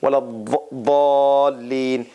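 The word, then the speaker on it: وَلَا الضَّالِّينَ: So the teeth, there's no Z sound in this. This is like the Saudi Arabia and those region pronunciation and others. And then Iraqis and some others, they pronounce it with a Z sound, with a hissing sound.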